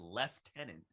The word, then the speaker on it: lieutenant: one lieutenant in the in the uk is pronounced lieutenant with a hard f yeah yeah they had